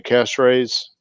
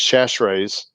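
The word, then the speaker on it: Chachere's: a turkey is tony cash raise actually let me say it properly tony's chashrae's cajun butter infection marinade all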